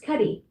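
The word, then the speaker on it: Cudi: C U D I is pronounced Cuddy.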